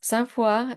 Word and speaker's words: Sainte-Foy: Sainte Foy is the French pronunciation of the Latin words Sancta Fides, Holy Faith.